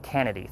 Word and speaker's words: Kennedy: Big John Kennedy was his last name, not Candy, but Kennedy, 3 syllables.